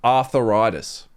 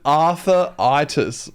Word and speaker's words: arthritis: Now I'm saying that wrong. Yeah, I'm saying that wrong, aren't I? It's just you're heavily my my pronouncing it. My whole life I've called it Arthuritis. Arthuritis. Like it's an actual name. like it's somebody's name is Arthur Writis.